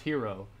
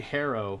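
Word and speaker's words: Herro: for like three bucks pronounced hero it's actually harrow i don't know if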